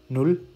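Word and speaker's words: null: तो इसको मैं ना इंग्लिश में भी लिख देता हूँ यहाँ पे, ताकि आपको थोड़ा सा एक प्रोनाउंसिएशन का आइडिया हो जाए। नुल, आइंस, स्वाय, त्राय।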